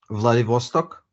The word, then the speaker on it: Vladivostok: um Vlad what it Vlad how do you pronounce it Vladivostok Vladivostok that's close to North Korea is it